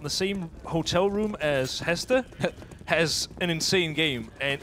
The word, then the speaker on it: Hester: And yeah, I don't know, should I say Haste or should I say Hester? It seems so weird. Because to me, he's Hester. So he's Hester. Right, well, I'll try and pronounce it as Hester then. I mean, he's Danish, you're Danish, Zio. You know him, and it's pronounced Hester.